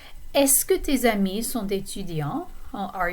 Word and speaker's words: est-ce que: this expression, est-ce que, and that's how you pronounce it, est-ce que. It looks like there's a lot of extra letters there and you wouldn't need all of them. But there are plenty of silent letters in French, just like we have in English.